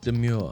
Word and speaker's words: Domergue: According to her, she seems to want it pronounced demure.